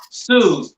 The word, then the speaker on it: Suze: So, and make sure you say it's pronounced Suze.